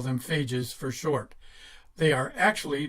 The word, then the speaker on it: phages: pronounced as I've been phages are like pages with an F are actually beneficial viruses